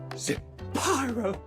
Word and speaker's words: Zapyro: Zapyro, 3 syllables of pure poetry.